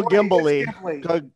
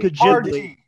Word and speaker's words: Ghibli: Studio Ghibli. Ghibli. Thank you. Ghibli. I like the Disney of Japan. Ghibli.